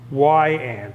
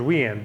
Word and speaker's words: Weiand: W-E-I-A-N-D Then they have on here how to pronounce it, say why- and. I always thought it was we-and. but to say why-and.